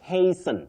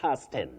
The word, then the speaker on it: hasten: You say hasten, not hasten. Hasten, fasten, not fasten.